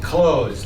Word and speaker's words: clothes: says t h s it's pronounced close like I'm going to close the door so this is one